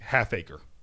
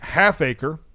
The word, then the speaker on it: Halfacre: yeah is what he said his name Malik Halfacre not whole acre not a quarter acre Halfacre